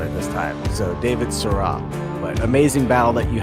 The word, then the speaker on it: Sirois: So it's Sirois. It's not David Sirois, it's David Sirois. So I apologize. It's French. There we go, Sirois. Sirois. Yeah, okay, I got it this time. So David Sirois.